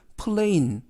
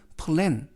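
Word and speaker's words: plan: 여기에서 약간 유의하실 점은 푸 앤 이라는 단어를 플레인 플레인 이라고 발음하지 않게 조심 하시고요 발음은 플레인 이 아니라 계획 이라는 단어는 플랜 이라는 발음으로 하시면 되겠습니다 그리고 맨 끝에 시간을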